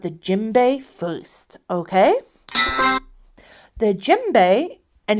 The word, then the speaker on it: djembe: The djembe, and it's spelled D-J-E-M-B-E, it can be very big or very small.